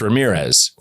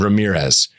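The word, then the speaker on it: Ramírez: He had that accent, my name is Ramirez. Like, no, it isn't. Like you didn't even do, you didn't roll your R, nothing.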